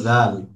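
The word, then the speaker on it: ذال: এই যে সাটা যে জায়গা থেকে উচ্চারণ করেছিলাম, জালটাও সেম জায়গা থেকে উচ্চারণ করতে হবে, অর্থাৎ জিহ্বার আগা উপরের দুই দাঁতের আগাতে লাগিয়ে।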